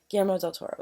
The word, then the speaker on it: Guillermo del Toro: Yeah, Guillermo del Toro.